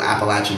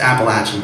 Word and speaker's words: Appalachia: won't get into that there like a whole Appalachian history it's pronounced Appalachian by the way no one from no one